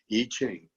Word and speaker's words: I Ching: But again, I Ching, it looks like I Ching, but the I is pronounced E, I Ching.